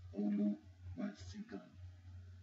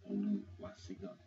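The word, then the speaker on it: Oluwasegun: And it's spelled O-L-U-W-A-S-E-G-U-N. Oluwasigun. Oluwasigun.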